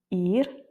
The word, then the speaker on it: ir: Et le premier cas de figure, c'est quand on a un R en fin de mot, donc quand c'est la dernière lettre. par exemple asukar, beber, ir ou encore sior. Donc on l'entend en fait assez peu, il est assez doux.